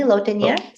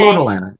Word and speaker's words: lotilaner: you say, excuse me, Lotenier. There's Yeah. only one in the US. It's Xdemvy. We pronounce it Xdemvy. XDMV. XDEMVY. VY, in XMV. English. Yes, But but he it's said, lotilaner. It's just lotilaner eye drops.